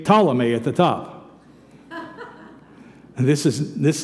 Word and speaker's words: Ptolemy: have to understand that Ptolemy is spelled with a P is not potala me it's Ptolemy but the P is silent you also have to